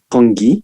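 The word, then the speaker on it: congee: I think we pronounce it kongi, C-O-N-G-E.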